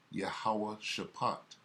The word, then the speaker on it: Jehoshaphat: valley of jehoshaphat jehoshaphat the ancient uh hebrew pronunciation of jehoshaphat is yahuwah shapot the most high god's